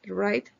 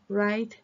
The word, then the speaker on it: write: escribir la digan bien la W de la palabra escribir right No se pronuncia right right your name right your name write the date escribe la